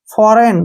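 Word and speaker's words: foreign: ई आई जी एन फिर से एन से पहले क्या आ गया जी इसको छोड़ देंगे फॉरेन क्या पढ़ेंगे इसको फॉरेन ऐसे फॉरेन ठीक है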